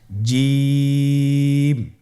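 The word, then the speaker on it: ج: জিম হরফটি বারিক হরফ, এটা উচ্চারণ করতে হবে 3 আলিফ টেনে। দেখুন আমি কিভাবে উচ্চারণ করছি, আপনারা আমার সাথে করুন জিম।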